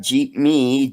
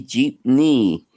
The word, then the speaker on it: jeepney: Jeep KNE uhuh no not Jeep me Jeep knee you know like the knee on your yes Dominic knows house